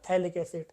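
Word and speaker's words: phthalic acid: PH silent है, इसका नाम क्या हो जाएगा आपका, थैलिक एसिड।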